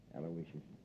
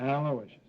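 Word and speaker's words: Aloysius: Yeah, you spell that little name right. It's a L O Y S I U S. Alawishas. Sure. How could I miss it? Aloishas.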